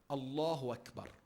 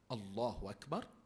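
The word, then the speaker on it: الله أكبر: come to salah and we say the following allahu akbar our salah is barton its mother if I say Allah Akbar my Salah is but how in Salah takbir atul a Haram must be pronounced absolutely pristine and correctly it is one of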